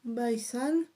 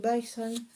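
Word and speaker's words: BySane: Alors, je vous montre son petit logo, Bison. Alors ça s'écrit by, B-Y, plus loin San, S-A-N-E. Voilà, vous trouverez sa boutique sur Facebook. D'ailleurs, c'est la boutique by San.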